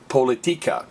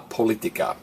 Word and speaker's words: política: there were no accent it would would be pronounced politia so remember that aent means hey don't stress the next to Last Vow stress me so la politica how are we going to remember that go